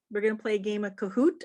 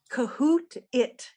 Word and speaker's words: Kahoot: kahoot i know some of you are familiar and